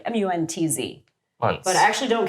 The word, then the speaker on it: Munc: The most common and inaccurate pronunciation is Munc, because there's a lot of hard C's in the English language, but it's actually Muntz, like M-U-N-T-Z.